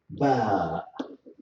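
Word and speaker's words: ب: It is easy to pronounce it, as you see, by pushing the two by making the two lips meet for short time and in a strong way.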